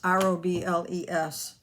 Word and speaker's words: Robles: using them i think my friend don robles r-o-b-l-e-s i think she ended up making a card